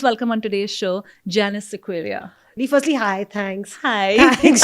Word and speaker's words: Sequeira: And in India, it's Sequeira.